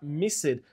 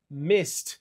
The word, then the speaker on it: missed: Se adiciona o ed normal no final, só que a gente não fala missed, a gente fala missed.